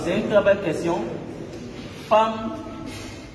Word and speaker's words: femme: Femme qui s'écrit F-E-2-M-E, qu'on ne dit pas femme ou femme. On aurait pu écrire avec A.